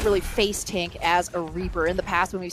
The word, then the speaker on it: Reaper: Ripper? Am I pronouncing that correctly? Reaper, you can definitely use Reaper, a really unorthodox